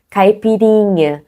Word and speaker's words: caipirinha: Caipirinha. Vous voyez que le plus fort, c'est les rinha. Caipirinha.